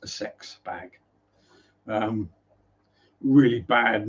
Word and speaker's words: CeX: wet at all and yes that is actually pronounced a sex bag um really bad name for a a